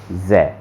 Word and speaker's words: so: एस plus vocal आ जाए तो उसका साउंड क्या निकलेगा? ज़, ज़। ठीक है, तो इसको क्या पढ़ोगे पीयूष? इसको क्या पढ़ोगे जो लिखा हुआ है बोर्ड पे? जो। जो, इसको पढ़ना है जो।